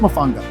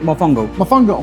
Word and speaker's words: mofongo: It's pronounced Mafanga, right? Mofongo. Yeah.